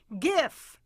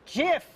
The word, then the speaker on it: GIF: And though there's a never-ending argument over how to pronounce the word, the inventor says it should be GIF, not GIF, GIF, as in the peanut butter.